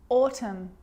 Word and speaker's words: autumn: n it's important because when i'm explaining the silent letter n it actually is silent when it's next to m confusing huh let's look at some examples damn like damn it damn autumn autumn him him a